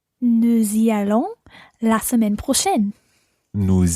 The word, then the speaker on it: nous y allons: And notice that we pronounce the s of nous y allons.